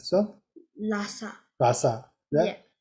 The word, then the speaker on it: Lhasa: example, this is the how to pronounce this one? Lhasa. Lhasa. Yeah. Yeah. Lhasa is the capital city of Tibet.